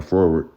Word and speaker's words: froward: It says forward, pronounced forward.